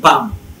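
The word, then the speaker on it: palm: পি এ এল এম, এল বাদ, পি এম পাম।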